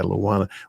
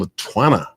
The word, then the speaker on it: Luana: Damaged Crowns Still Shine by Luana. When I first saw your name, I kept pronouncing Latwana. Twan, but the T is silent, is it?